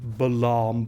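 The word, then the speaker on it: Balamb: let's have a look at according to official pronunciation balaam garden yes that still annoys me it is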